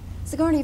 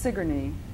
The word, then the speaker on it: Sigourney: sigourney first of all i have to welcome you